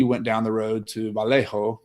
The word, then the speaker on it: Vallejo: down the road to Vallejo California I'm pronouncing that right that's a Spanish version and he bought properties